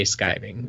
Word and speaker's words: skiving: yet IV so what when I looked it up I definitely found a lot of skyvan skiving mm-hmm you know listen to a couple YouTube videos that Google pronunciation they all say skiving or skive right so I mean